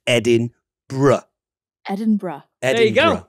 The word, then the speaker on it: Edinburgh: get yourself to Scotland, it's important to pronounce this city Edinburgh, and not, as a lot of people in the United States say, which is Edinburgh.